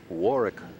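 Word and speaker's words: Warwick: I noticed you said she's from Warick, Rhode Island. You don't pronounce the middle W, huh?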